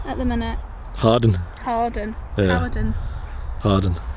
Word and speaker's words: Hawarden: manchester how are we all doing we're at howard and at the minute harden harden harden it's pronounced we're in wales we're in north wales